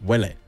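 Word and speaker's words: Uele: you will I heard from someone that's actually pronounced Willie um spelt UE e okay well I think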